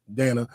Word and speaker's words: Danna: I teach people to pronounce my name Dan like Hannah yeah true true I